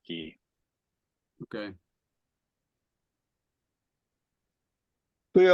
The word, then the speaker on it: chi: fraternities, which is not, they would say, pi or chi instead of p or ki.